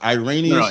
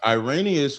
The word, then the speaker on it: Irenaeus: It's Irenaeus.